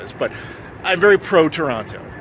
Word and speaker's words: Toronto: to Toronto you'll notice I don't pronounce the second T Canadians will get that so I realized we